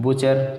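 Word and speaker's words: butcher: बुचर, टी के बाद सी H, scratch, इस तरह से ये महत्वपूर्ण नियम थे।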